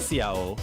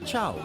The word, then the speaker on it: ciao: Oh, and it's not Ciao, it's pronounced Chow.